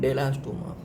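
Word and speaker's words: Bdellostoma: इसमें B silent है और बोलते क्या है? डेलास्टोमा।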